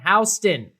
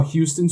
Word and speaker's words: Houston: named after our hometown Houston thank you for saying it right I'm pronouncing that way because that's yeah that's the way you pronounce I got yelled